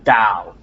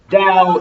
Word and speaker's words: Dao: the way Gile system should actually be pronounced like a d it should be pronounced Dao so there's no difference in pronunciation Dao and down however I